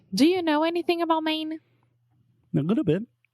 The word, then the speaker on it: Maine: it yeah I mean it's the same way that we say main right just like Main Street or the main point of a topic or something yeah yeah